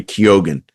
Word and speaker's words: Keoghan: Andrew Scott, All of Us Strangers, and Barry, and again, this is another pronunciation thing, I think it's Barry Keoghan for Saltburn, which I really, really loved.